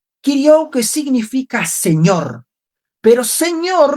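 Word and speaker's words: κυρίου: Ahora, la otra palabra que compone día del Señor en griego es la palabra ipió o también que se pronuncia como kirou. Kiriou que significa señor, pero señor no en el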